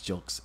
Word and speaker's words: Gilks: I may have mispronounced his name. I thought it was Gilks. I think it's Gilks. That's what he pronounced.